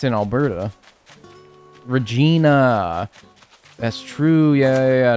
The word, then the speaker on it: Regina: Other than that though, also is it said Regina or is it rhyme with vagina? Because I have heard both of them and I'm like, whoa. Yeah, it is. Okay. It's It's actually pronounced Regina.